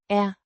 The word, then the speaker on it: er: Er. Means am, pronounced Er. like the air in airplane, but slightly shorter and with a schwa sound like the in, about.